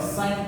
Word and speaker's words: sine: first formula to remember sine theta please pronounce it properly it's not sin theta it's sine s so sine theta is